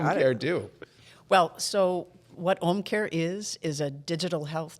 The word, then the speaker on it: Ōmcare: so anyway it's not that it's just H care right correct I don't have to try and put anything home care it's like home care it's it's Home Care without the H correct okay great that